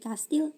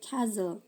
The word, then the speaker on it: castle: now forin silent age h our honest honor gost rhyme silent knife knock now knee night silent tea castle ini bacanya bukan castle apalagi castil bacanya castle listen whhtle fasten oft ini ada yang baca often, ada yang baca often.